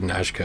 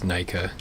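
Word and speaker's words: Najka: actually I think it's I said NASKA I think it's naika I heard I think I heard another YouTuber pronounce it once I thought that that makes perfect sense okay you know what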